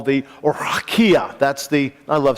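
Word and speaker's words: רקיע: what we call the Rakia. I love saying that, don't you like that? Rakia. That's the way it's pronounced in Hebrew, I understand.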